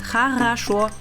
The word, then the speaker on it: хорошо: And when you phonetically sound it out, it sounds хорошо. That's how you say it, хорошо.